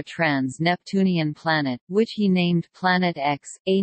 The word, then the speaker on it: Planet X: planet which he named Planet X a name previously used by Gabriel dalit the X in the name represents an unknown and is pronounced as the letter as opposed to the Roman numeral 410 at the time